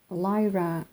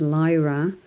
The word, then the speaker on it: Lyra: a lot less expensive it is a German brand Lyra so I believe the Germans would wouldn't pronounce it as Lyra I think they would say Lura or something like that I do speak a